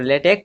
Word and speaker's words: LaTeX: क्या है लेटेक तो लेटेक प्रोनाउंस्ड एट लेटेक इसको प्रोनाउंस किया जाता है लेटेक या फिर लेटेक okay is based on